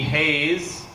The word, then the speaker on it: Hayes: Hayes. The S is silent.